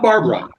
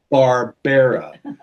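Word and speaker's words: Barbera: Barbarara, not Barbara, Barbara. And three syllables. Barbara.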